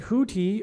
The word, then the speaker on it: Houthi: caught up in it because Houthi rhymes with who, as in WHO.